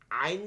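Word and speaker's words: ع: যেকোনোটা যান রজিম জিমের কি রাখতে হবে জিমের উচ্চারণ জি যেটা আছে বাকি ইয়া মিম হচ্ছে ফালায় দিতে হবে আইন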